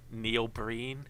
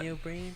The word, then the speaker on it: Neil Breen: But it's him and Neil Breen, is it? I think that's how you pronounce it. I don't know who that is. Neil Breen, yeah.